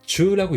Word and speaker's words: 銃: 그래서 이거는 음독이 주라고 읽어요.